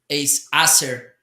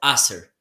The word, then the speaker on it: Acer: Okay, this is Acer. How do you call it? Acer.